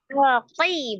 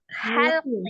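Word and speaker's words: حلقي: Holqi bukan holqi. Halqi.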